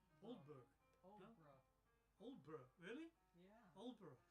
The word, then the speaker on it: Aldeburgh: Oh, says Aldeburgh is pronounced Oldburgh. Oldburgh.